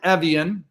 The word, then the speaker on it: Evjen: For those that may not know, my name is Evjen, pronounced like the water.